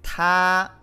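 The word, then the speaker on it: 她: Aquí tenemos, se pronuncia igual, él y ella se dice ta. Ta con primer tono, ¿sí?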